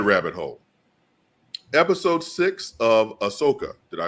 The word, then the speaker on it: Ahsoka: further down that rabbit hole episode six of Ahsoka did I pronounce that correctly that's right um let's backtrack